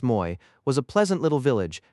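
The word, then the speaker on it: Moÿ: Moy, pronounced Moy, was a pleasant little village, gathered round a chateau in a moat.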